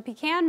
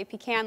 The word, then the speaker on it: pecan: November is National Georgia pecan month now regardless of how you say it some say if you can like me others say pecan the Georgia pecan commission